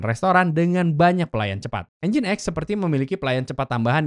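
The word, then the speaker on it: nginx: Engine X diucapkan engine X dan ini adalah jenis khusus server web yang dirancang untuk secara efisien menangani banyak pengunjung pada saat yang bersamaan.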